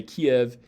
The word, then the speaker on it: Kiev: and like i said we would normally say kiev in english if we just write it out